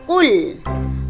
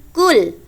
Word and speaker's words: Qul: Kita bahas dari ayat yang pertama, Qul. Qul. Qul di sini qaf. Jadi bacanya qul, bukan kul.